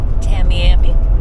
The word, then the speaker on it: Tamiami: how you pronounce that tamami say it again Tamiami yeah Tampa and Miami merge together tamami yes it's the